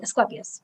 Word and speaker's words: Asclepius: So anyways, Ophiuchus, his Greek name is Asclepius. Am I pronouncing it correctly? Asclepius.